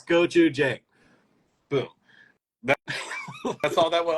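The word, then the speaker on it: gochujang: this difficult word but it's literally so phonetically easy yeah it's goou j boom that's all that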